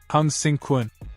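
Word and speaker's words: 鴻勝館: The Hung Victory Kun, pronounced as Hung-sing Kun, was known for its focus on highly effective and practical hand-to-hand combat and weaponry.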